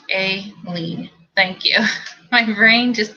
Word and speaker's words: Aileen: timmy timmy ray it's real her name is pronounced a lean thank you my brain just keeps wanting to